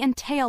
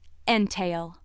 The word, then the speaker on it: entail: The other pronunciation of word seven is entail. Entail. This pronunciation is used when word seven functions as a noun meaning a restriction on property ownership by limiting inheritance.